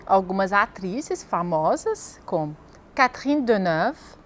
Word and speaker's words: Catherine Deneuve: E algumas atrizes famosas, como Catherine Deneuve, Brigitte Bardot, Audrey Tautou, Juliette Binoche, Emmanuel Béart, Gérard Depardieu.